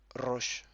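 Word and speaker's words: ראש: Ça se dit roche. Donc, soit vous arrivez à rouler les R et vous dites roche, soit vous n'arrivez pas et vous dites roche avec un R normal.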